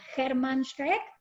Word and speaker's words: Germán Schreck: felices, muy agradecidas a Germán Schreck. ¿Está bien pronunciado así, Germán? Perfecto, perfecto. Buenas noches a todas y a todos.